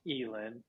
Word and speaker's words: Ealan: So my artist name, I mean, it's pronounced Ealan, but it's stylized 3 ALAN, three Alan.